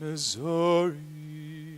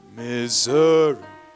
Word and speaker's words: Missouri: Across the wide Missouri. All right. Sometimes they call those shadow syllables. Okay. Where re is dramatically less than zo, right? Missouri, right? It kind of brings out a musical idea there.